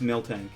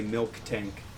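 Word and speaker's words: Miltank: or something that happened I know it's Milton and it actually greatly annoys me when people say milk tank there's no K in the middle it's one of those inexcusable pronunciations okay Cramer rant dread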